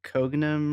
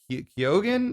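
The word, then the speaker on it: Keoghan: Barry Kogan. Oh, Kyogan.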